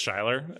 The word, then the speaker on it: Shuyler: I that's something yeah sure it's shyler s-h-u-y-l-e-r but my parents like like the name Skyler and then they've somehow